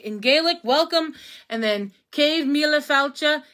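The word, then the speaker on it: céad míle fáilte: And then cave mila falcha is how you say 100,000 welcomes.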